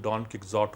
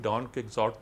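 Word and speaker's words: Quixote: ڈان کیہوٹے کو انگریزی میں لکھتے تھے ڈان ککزاٹ, اس کا تلفظ ڈان ککزاٹ ہوا کرتا تھا.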